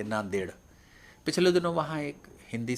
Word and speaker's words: नांदेड: है क्योंकि वहां पर इंग्लिश में उसकी एन ए एन डी ई डी है तो यह देड है देड में डी और डी दो बार डी आया और दोनों का उच्चारण अलग-अलग है तो ऐसी विसंगतियां यह